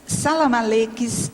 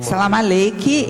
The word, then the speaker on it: salamaleque: salamaleques exagerados é que eu eu eu li aqui Salam Malik mas a pronúncia Salam salamaleque eu aí tô firmando na pronúncia puxada pro árabe mesmo tá É porque no português é salamaleque mas como aqui está no estrangeirismo ficou assim é agora outra coisa na